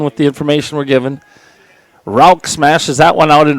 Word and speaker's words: Rauch: Next up is Will Rauch, R-A-U-C-H. I've seen that, or I've heard that pronounced a number of different ways, but on our lineup card they put the pronunciation R-O-U-K, so we'll go with Rauch.